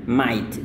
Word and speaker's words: might: Jadi ini seperti biasa, you ini cara melafalkannya dengan might. Jadi GH-nya itu mati.